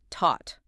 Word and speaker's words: taught: The past tense of teach, taught, starts with a hard aspirated T, T-A-U-G-H-T. The past tense of think, thought, starts with the voiceless interdental fricative, the sound, T-A-U-G-H-T.